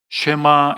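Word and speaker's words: שמע: 이스라엘아 들으라.이 아이 말이 히브리어로 쉐마 이스라엘 이렇게에 발음합니다.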